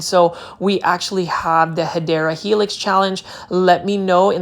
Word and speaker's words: Hedera helix: And you will see right here, we've got a Hydra helix, or the correct way to say it is Hedera helix.